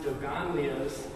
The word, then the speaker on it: Dogonlios: The title is pronounced Dogonlios, and it really is just a fusion of the Dogon tribes.